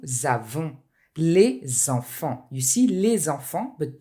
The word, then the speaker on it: les enfants: You see les enfants, but do not pronounce the S at the end of the word, which is a plural, okay?